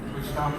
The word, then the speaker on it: Wichita: Wichita, Kansas.